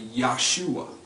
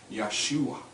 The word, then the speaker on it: Yahshua: And again, that's more likely Yahshua, because the root word Yasha has the Ya sound. So more likely it's Yahshua.